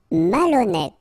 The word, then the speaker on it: malhonnête: Malhonnête. Okay, remember, H doesn't exist, so malhonnête. Don't insist on the final E. Malhonnête. And here you get accent circumflex, so you pronounce it like E. Malhonnête.